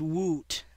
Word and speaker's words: w00t: It is commonly pronounced woot by some gamers.